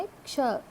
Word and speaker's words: क्ष: क्ष, क प्लस श, क्ष, क्ष। क्ष में का साक्षीभूत होता है, शा का भी ध्वनि हमको सुनने को मिलता है।